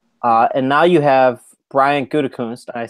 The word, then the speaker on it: Gutekunst: And now you have Brian Gutekunst.